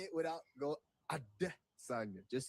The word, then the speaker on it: Adesanya: Can you say Adesanya? Adesanya. Yeah, I think it's the emphasis on that. But just say it without go Adesanya.